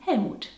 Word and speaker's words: Hellmuth: that's a german comedian other german names that contain hell are for example helga and hellmuth even though germans of course say heger and helmut or let's take this